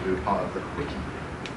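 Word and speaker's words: Hwicce: Here in Gloucester we were part of the Wiki. I think that's how you pronounce it. It's spelled in a very strange way.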